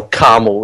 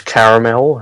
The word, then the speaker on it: caramel: um thanks Americans and I'm not sure if Canadians pronounce it carel but it has an A in it it's caramel and people say a different here like it's either way some people say carel